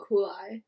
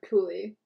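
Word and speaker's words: Cuylle: of them except like will kulai or cooley julie yeah cooley rhymes with ghoulies oh we don't talk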